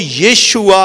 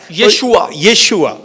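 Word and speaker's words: ישוע: कम लोग बोला करते हैं लेकिन जो राइट प्रोनाउंस जो इब्रानी में आता है वह यशुआ आता है यशुआ इसलिए बहुत सारे लोग जब इससे अवगत होते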